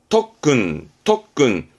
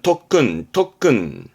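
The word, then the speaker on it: とっくん: 그럼 발음은 덕근 말씀드린 대로 쿠 다음에 카키 쿠케코가 오는 바람에 발음이 변형이 생깁니다.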